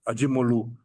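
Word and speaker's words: Acemoğlu: Basically, when you really read um uh Ajimolu, that's how you pronounce it in in in Turkish and and the others, what they are basically saying is settler colonialism is the best.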